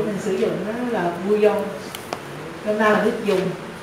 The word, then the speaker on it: bouillon: Cái này là từ gốc Pháp, bouillon, đọc là bouillon là cái mình hay gọi nên là nước dùng á, nước lèo á.